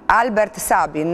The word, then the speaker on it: Albert Sabin: Stavo dicendo che lei da virologo e appunto allievo di Sabin, no, che poi come si pronuncia? Sabin? Albert Sabin, no?